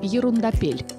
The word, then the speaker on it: Ерундопель: А ударение в названии просят ставить на последний слог – «ерундапель». Так звучит интереснее и немного по-французски.